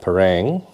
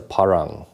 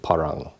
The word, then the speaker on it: parang: uh westerners call it parang or some variant of that this is a parang that's at least how it's pronounced locally and so if you want to be true to its name it's parang not parang so that's